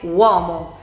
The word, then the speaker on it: uomo: The same happens with other words, for example "uovo" (egg) or "uomo" (man).